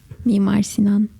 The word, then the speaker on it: Mimar Sinan: did you experience the community in, I can't pronounce the name of your university. Mimar Sinan.